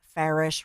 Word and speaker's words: Farish: Bruno awesome and obviously Shan Farish rhymes with Parish but he's amazing and